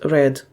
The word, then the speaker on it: read: для iosay це буде read а минулий час Red і також Зверніть увагу на тому що слова